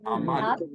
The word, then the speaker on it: Haman: That is how you say Haman's name in Hebrew. Aman.